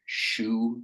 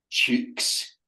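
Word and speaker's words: choux: and she wants to order shoe pastry. C H O U X. But she's too low class not to pronounce it cheeks.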